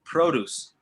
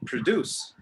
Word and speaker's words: produce: is produce produce so what really changes here is the first syllable produce produce pro like professional emperor like well i